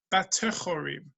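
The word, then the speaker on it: בטחורים: It's pronounced, it's read one way. That's what it reads like, but we pronounce it with this word, batechorim.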